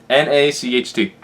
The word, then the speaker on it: Nacht: The same way you spell it in German. N-A-C-H-T.